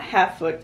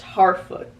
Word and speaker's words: Harfoot: It's not Halffoot, it's Harfoot, the Harfoots. I'm interested to see, because I really do love this kind of, what we've been doing with the Harfoots, because we get this,